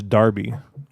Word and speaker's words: Derby: to you know some derby it's a freaking absolute derby you know yeah um i i i believe you're mispronouncing it i'm pretty sure it's darby is it i thought